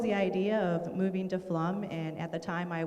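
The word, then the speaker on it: Flom: i currently live in flum minnesota it's f-l-o-m but it's pronounced flum and we are by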